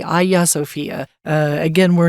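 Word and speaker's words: Hagia Sophia: I look at it I would say Hajj or hajia Sophia but I think it's actually Aya sopia uh again we're not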